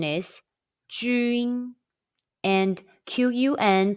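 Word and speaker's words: 军: When you see pinyin jun, the pronunciation is jun, and qun pronunciation is chun.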